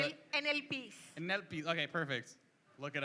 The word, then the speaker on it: Enepe: NLPs.